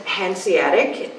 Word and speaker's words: Hanseatic: and everything affected your family yes well it's pronounced Hanseatic and um it's it's Honda in in German